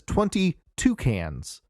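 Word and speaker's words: 22cans: lowercase word cans and it's supposed to be pronounced as 22 cans like the bird but you would if that's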